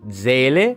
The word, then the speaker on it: Seele: l'andamento del primo banner di Zele o di sili se lo pronunciate alla giapponese Bam siamo a aggiornato al